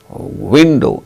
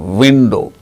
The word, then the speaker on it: window: pronounced like this work wherever there is w in spelling window it is not a window it is window van van w i n d w window w i n g wing not wing v-i-n-e-wine w-i-n-u wine so wherever we have got w in the spelling it should be pronounced with the two labial lips as the active and